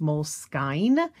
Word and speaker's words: Moleskine: the journals so this all started with my mole skin and did you know moleskine journal is pronounced moleskine and so i just thought i would take